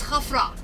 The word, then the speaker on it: Khafre: King Khafre, it's Khafra, and the Greek call them Khafrens.